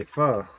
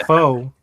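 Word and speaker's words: phở: missing out on F and I did say F that's the correct way to say it it ain't fo sound like Mr T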